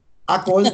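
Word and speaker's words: עגל: Agol wird es übrigens ausgesprochen, auf Hebräisch, wenn man wird es vokalisiert.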